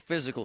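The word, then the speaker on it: Fyzical: Monroeville Physical, spelled F-Y-Z-I-C-A-L, is spelled different, because they are different.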